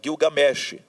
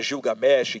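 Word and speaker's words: Gilgamesh: império sumério viveu então Guil games né ou Gil Gam Como Queira pronunciar você pode pronunciar Gil games Gil games e Gam também a pronúncia da na mesmo tá Por que que pode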